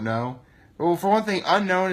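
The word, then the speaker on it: Unown: Well, for one thing, unknown is spelled U-N-O-W-N.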